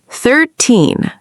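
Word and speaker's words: thirteen: 13. 13. 13. The stress is on teen. This means 13, the number after 12.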